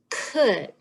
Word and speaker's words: could: some tricky ones this one's kind of hard could could you just have to know that one